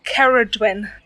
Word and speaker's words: Cerridwen: Well, I've Googled the pronunciation because I don't want any Welsh listeners to think that I'm butchering it. I'm really good with a Welsh accent. It's pronounced Cerridwen.